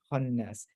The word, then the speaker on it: الخناس: Khannas. Like this is a, but after a ha, it sort of becomes open. Khannas.